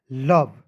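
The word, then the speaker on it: love: व तो हो जाएगा लव ठीक है देखिए ओ और ई जो रहता है य साइलेंट रहता है जैसे यहां पर समझेंगे एक और मैं वर्ड लिख रहा हूं जैसे एल ओ भी लव मीस क्या होता है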